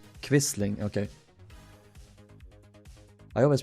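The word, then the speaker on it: Quisling: gave rise to the term how do they pronounce it? Vidun quistling. Quistling. Okay. I always pronounce it at Kisling but no quistling.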